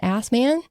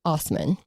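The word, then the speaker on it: Assmann: It's spelled assman and a lot of people will refer to him as assman but it's actually pronounced osman.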